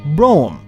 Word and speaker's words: Brougham: broadmobile or broomfication and why is it pronounced this way why not browcom why do you skip about three letters i'm not going to